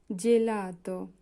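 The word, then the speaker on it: gelato: জিনক্কীয় জিনক্কীয় মানে হচ্ছে হাটু জিনকীয় জিনকীয় জি এর পরে যদি এ থাকে তাহলে হবে যে জেলাত জেলাত জি এর পরে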